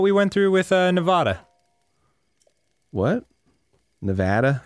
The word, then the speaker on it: Nevada: Say Nevada. Nevada. That's the correct way to pronounce the state name. Put emphasis on the second syllable. Nevada.